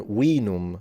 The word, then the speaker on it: vinum: And then vinum would be the way they would pronounce it in ancient Rome. So that's what it would sound like.